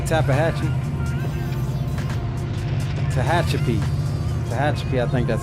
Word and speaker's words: Tehachapi: This is Tahachapi. We're coming into. I said Tahachapi. Tehachapi. Tehachapi, I think that's how you pronounce it.